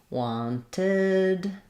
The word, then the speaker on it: wanted: or another T there so that's where my e d is going to say ID so need did wanted um that's where we get an extra syllable again you can see